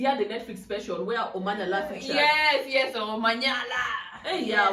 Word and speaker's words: Omanyala: I say his name like a Nigerian. Omanyala. It's not Omanyala. His name is Omanyala. It's Omanyala. The amount of time my husband has corrected me is yes, it's Omanyala.